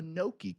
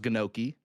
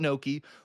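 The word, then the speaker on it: gnocchi: is because there's a Noki class uh, teaching you how to make, uh, apparently it's not pronounced ganinoi. Uh, it's the G is silent.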